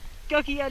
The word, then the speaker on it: Gokyo: Gokyo Lake.